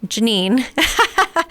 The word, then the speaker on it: Jeannine: can remember my name Janine and it's spelled Jean like in a pair of jeans and nine like the number nine so it's Gan n